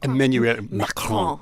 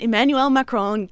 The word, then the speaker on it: Emmanuel Macron: Emmanuel Macron.